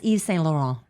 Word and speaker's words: Yves Saint Laurent: There are designer brands I I to this day I don't know how to pronounce them. Like what? YSL. That's Yves Saint Laurent.